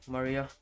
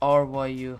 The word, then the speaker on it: Rio: Welcome to the stream, Maria. Welcome, welcome. Rio, it's pronounced R Yu.